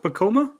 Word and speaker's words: Pacoima: I guess it's pronounced Pacoima, but it's spelled Pacoima.